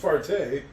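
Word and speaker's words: Fahrt: It's pronounced farte.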